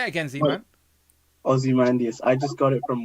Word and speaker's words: Ozymandias: Yeah, there's no way I can even begin to pronounce that. Say it again, Z-Man. Ozymandias. I just got it from Watchmen. That's Ozymandias.